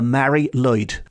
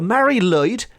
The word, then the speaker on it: Mari Lwyd: Now, I did tease you at the start of this episode with a creature that might be even stranger than the Mari Lwyd, and that will be coming up very soon.